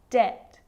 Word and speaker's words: debt: subtle debt and doubt so see in all of those examples my lips aren't closing and coming together to form the b sound i'm just pronouncing the t subtle debt and doubt now the letter c